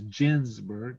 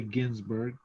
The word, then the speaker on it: Ginsburg: her name this that's the proper way to pronounce it is ginsburg not ginsburg but a lot of people say ginsberg but that's how it works so i guess